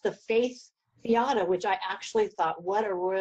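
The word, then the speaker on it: Faeth Fiada: And you call it, it's pronounced the Faith Fiata, which I actually thought, what a royal joke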